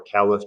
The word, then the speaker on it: caliph: bakr was the correct khalif or calif depending on your pronunciation and they believe that